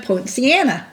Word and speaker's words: Poinciana: in the village of poinciana that's how you say it point siena poinciana quinceanna that's hard for me